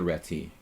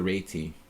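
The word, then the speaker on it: Réti: cool you tell people that it's not the reti it's the RTI I heard it from a Hungarian um that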